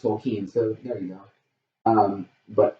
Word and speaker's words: Tolkien: Tolkien, sorry, I called it Tolkien my whole life, and realized when the movie came out that it's pronounced Tolkien, so there you go.